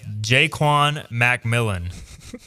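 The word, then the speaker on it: Ja'Quan McMillian: If Savon Revel and Jaquan McMillian Apparently it's Jaquan, by the way. Jaquan Macmillan is the official pronunciation.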